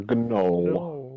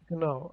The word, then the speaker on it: gnoll: A gnoll. No. Like a Noel Edmonds. No, Yucky. is it a gnoll? Just like a gnoll, yeah. Gnoll. It's actually pronounced knoll.